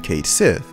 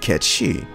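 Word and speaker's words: Cait Sith: a little disingenuous so why is it that we're saying Kate Sith instead of catchy I'm fairly certain this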